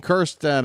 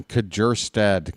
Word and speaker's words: Kjerstad: Maybe we should start pronouncing the J. Maybe the silence has gone on too long. Here's Kobe Mayo. I'll think about it next time Kjerstad comes up to hit.